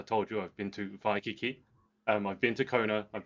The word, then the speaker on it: Waikiki: Yeah, so Hawaii is traditionally, or the proper way to pronounce it is Hawaii, because in the Hawaiian alphabet, W's are pronounced in the V sound.